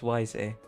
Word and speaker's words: Wiese: Pronunciation is Wiese. Weise. It's Wiese, but it's pronounced Weise.